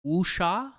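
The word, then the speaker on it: wuxia: Uh it's a Chinese I think I'm Wooa movie. Okay, is how you pronounce it.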